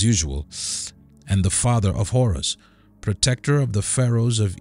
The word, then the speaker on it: Horus: of kingship and War Horus in Egyptian either might be pronounced har or her or heru in ancient Egyptian religion